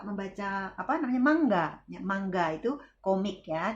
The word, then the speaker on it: manga: Ya, manga itu komik ya, atau manga tapi dibacanya mangga.